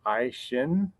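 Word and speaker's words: Aisin: A question that I'm often asked is how do you pronounce it? And it's pronounced Aishin.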